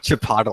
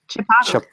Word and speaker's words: Chipotle: giant lives in Canada after that you said chipot I don't I'm not sure what you're talking about it's like it RMS with Aristotle Chipotle it's you're pronouncing it wrong chiple ly